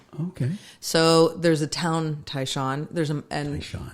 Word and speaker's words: Tai Shan: Tai Shan is how you pronounce my last name. Tai Shan. Instead of Shan.